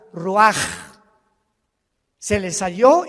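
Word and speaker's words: רוח: Así como suena, se pronuncia la CH en hebreo como J, Roach.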